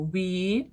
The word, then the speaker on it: we: time We visited Ireland Бачите як я вимовляю We губи трубкою visited We вимовляється губи йдуть за верхні зуби We visited irland це